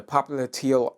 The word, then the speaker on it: popliteal: terms okay all right popliteal artery in my notes the popular teal artery supplies blood to